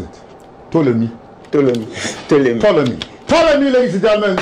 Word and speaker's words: Ptolemy: Well, you, how do you pronounce it? Ptolemy.